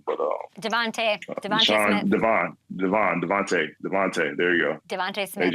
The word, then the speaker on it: DeVonta: But those the AJ and I don't want to get his name wrong, but Devontae Smith. Devontae.